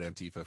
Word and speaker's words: antifa: just really mad at antifa for all the things they're doing lately i know i'll say space force i pronounce it antifa like aunt like she's your auntie i pronounced yeah she's